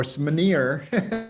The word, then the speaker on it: SMR: Phyllis's final comment was, is the correct pronunciation of SMR smear? Or SMNER.